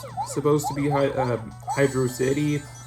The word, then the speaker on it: Hydrocity: Personally, I pronounce it Hydrosity, but whichever way you pronounce it is, honestly, I mean, who cares, to be honest?